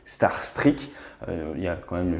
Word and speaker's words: Starstreak: ukraine d'un missiles starstreak l'info j'ai pas de star trek mais la prononciation exacte c'est starstreak il ya quand même